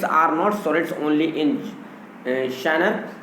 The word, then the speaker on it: genre: His sonnets are not sonnets only in shiner, तो उनके जो सोनेट्स हैं वो केवल सोनेट्स नहीं है इन शानर। शानर का मतलब होता है GENRE, इसका लेकिन जो प्रोनाउंसिएशन थोड़ा अलग है, शानर।